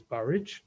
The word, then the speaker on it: Burwash: and mistress to bateman's burwash of which the proper pronunciation is barrage would tomorrow devotedly return